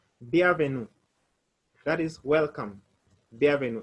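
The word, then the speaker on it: bienvenue: e n v e n u that is b avenue the avenue that is welcome the avenue in french the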